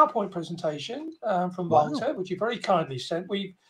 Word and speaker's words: Wouter: Mostly they say Walter, but it's wow. It's like you say wow, and then Wouter. Yeah, Wouter. You know? Yeah. Yeah, and that's the way to pronounce it.